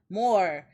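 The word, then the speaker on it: 漏れ: Mid 2000s Japanese internet culture even had its own special pronoun more some pronounced mor like the eel and written with kanji for leaking which taki and grim would often use in online chats.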